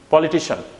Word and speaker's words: politician: to pronounce that word so it's not cn it's son politician okay what is it paul poorly t son politician not politician the same